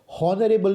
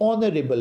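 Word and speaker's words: honourable: हॉनरेबल नहीं होता है, कभी आप इसमें एच को प्रोनाउंस करें जोर देकर, नहीं, ये हॉनरेबल नहीं है, ये ऑनरेबल है, ऑनरेबल, राइट।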